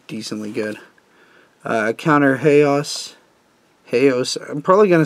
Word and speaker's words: Haos: else like everyone else even though it's supposed to be pronounced like Halo hey hey oh s--- but everyone calls it hey us like chaos so shrines